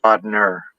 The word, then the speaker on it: Bodnar: It's spelled Bodnar, but we pronounce it Bodner.